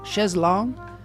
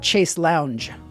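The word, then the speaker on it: chaise longue: I had a lounge a shz l long Shez long this is a good uh show to learn how to pronounce things shz long long not Chase Lounge so you know claster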